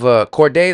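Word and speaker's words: Cordae: He sounds me of Cordday. That's how you say his name.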